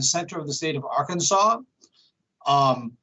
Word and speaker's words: Arkansas: native american language so we say arkansas as if it was spelled s-a-w um we're a campus